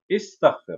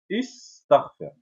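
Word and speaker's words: استغفر: Exemple, on a cet exemple, donc, istaghfir. On entend bien le i, istaghfir.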